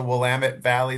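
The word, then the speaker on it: Willamette Valley: Is it the Wamut Valley there in Oregon? Like uh Yes. Great pronunciation.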